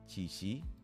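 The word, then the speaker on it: Qiqi: And finally, this is Chichi.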